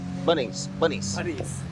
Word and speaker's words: Bunnings: If you're in Australia, you go to a place called Bunnings. Bunnies. It's spelled Bunnings, but they call it bunnies.